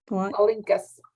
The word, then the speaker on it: Palinkas: So the PALINKS, how do you say that again? Palinkas. Palinkas. Okay.